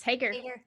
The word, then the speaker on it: Haeger: I am speaking with Lindsay Hagar did I pronounce that yes Hager all right so um Lindsay just tell our